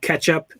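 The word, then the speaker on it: k3sup: a a tool um called ketchup it's spelled k3s up like k3 yeah but so that's ketchup um makes it really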